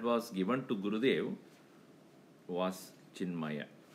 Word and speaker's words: Chinmaya: So the name that was given to Gurudev was Chinmaya. In Tamil language, they call him as cinema. Because Chinmaya, they don't pronounce the cinema.